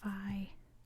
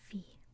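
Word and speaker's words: φι: fraternities and sororities but in greek it's pronounced fee fee fee like when you cross the bridge you pay a fee or a total a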